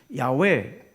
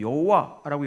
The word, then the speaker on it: 야훼: 네, 이렇게 야훼. 옛날에는 이거를 잘못 읽어가지고 여호와라고 읽었는데 여호와는 뭐 잘 읽은 건 아니라 그래요. 야훼라고 읽어야 된다고 학자들이 이제 주장을 하는데, 아무튼 뭐 여기서 학자들의 주장을 소개하는 게 중요한 건 아니고요.